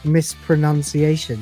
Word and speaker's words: mispronunciation: Because to properly pronounce mispronunciation, you don't want the second O.